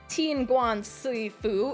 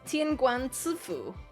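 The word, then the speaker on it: 天官赐福: You know, it's not Tianguan Sui Fu, it's Tianguan Ci Fu.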